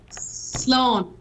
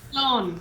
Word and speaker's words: Slán: Slán. Slow? Oh, there it is. Slán. So you say sláncha when you're going to raise a glass, and then you say slán, which is, that's what it is for goodbye.